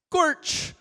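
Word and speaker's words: GOARCH: What is the official pronunciation of Go ARCH? Gorch.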